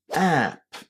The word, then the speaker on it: app: syllable and it is app. App. The vowel at the beginning of this word is the same sound that we have in the word cat or bat.